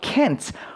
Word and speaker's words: can't: 그런데 실생활 발음에서는 빨리 말을 하다 보면요. 이 t 발음이 보통 묵음으로서 발음이 되지 않습니다.